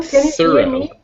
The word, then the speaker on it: thorough: one thorough we know it's a th so we know it's got to be either number 19 or 20 over there and you can hear when you say it but it's that soft whisper not the the buzzing sound so that's number 19